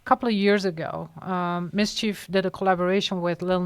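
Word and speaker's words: MSCHF: actually they're an artist Collective called Mischief it's spelled m-s-c-h-f and then every couple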